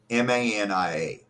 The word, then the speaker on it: drapetomania: DRAPETOMANIA. Drape to mania. Pronounced drapetomania.